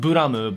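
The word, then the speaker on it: ブラム: It's properly pronounced Buramu, but I mean, it's Blame, okay?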